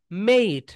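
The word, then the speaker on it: mate: মেট বলি আমরা, কি বলি বলতো? মেট বলি, কিন্তু right pronunciation is, right pronunciation is মেইট।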